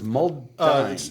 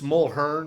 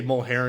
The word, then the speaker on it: Mulhern: Your last name is Muldine. It's Mulhern. Mulhern. But just say Mulherrin because it's easier to spell that way.